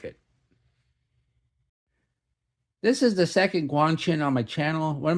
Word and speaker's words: Guanqin: I really like it this is the second Guang chin on my channel one of my viewers pointed out that I was pronouncing it wrong originally because I was saying guanin I am notoriously bad at pronouncing words I've